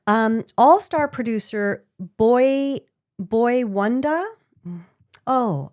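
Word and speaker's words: Boi-1da: It says um all star producer Boy Boy Wanda. Oh I see Boy Wanda but the way it's spelled is b o i and then w o n d a.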